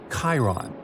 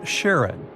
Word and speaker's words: Charon: And finally, while standing on Pluto, you would see its five moons, Styx, Nix, Kerberos, Hydra, and the most mysterious one, Charon, also pronounced Sharon.